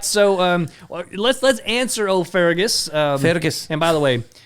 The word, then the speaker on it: Fergus: But his mom in the show is Irish, and she always pronounces it Fergus, and Fergus. like rolls the R or whatever.